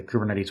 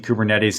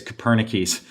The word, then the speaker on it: Kubernetes: She insists on mispronouncing Kubernetes as Copernicus.